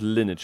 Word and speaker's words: Lineage: So, about Lineage 2, because you pronounce it Lineage, apparently.